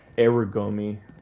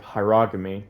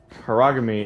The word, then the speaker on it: hierogamy: Okay, I had previously said uh arugomi instead of hierogamy and harogamy is one such pronunciation that I have heard being used and it is one